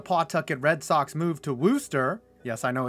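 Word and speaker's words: Worcester: abandoned when the pawtucket red sox moved to wooster yes i know it's spelled worchester but it's pronounced wooster mccoy was already maligned as a substandard minor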